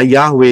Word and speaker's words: Yahweh: lihat Panggil itu jelas y he W he nulisnya dan Pang ee ee pelafalannya adalah yahwe itu namanya memanggil serukan bersyukurlah